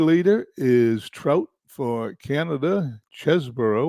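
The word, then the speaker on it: Chesbro: is trout for Canada chesboro or cheeseboro as it's properly pronounced is tied with tr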